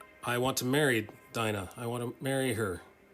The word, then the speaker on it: Dinah: to deal with so Dinah or I think it's pronounced Dina in the Hebrew I say Dinah they say Dina let's Call the Whole